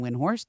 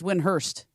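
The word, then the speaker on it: Windhorst: Do you know that it's not actually Brian Winhor? That's not how you say his name. What is it? It's Winhurst.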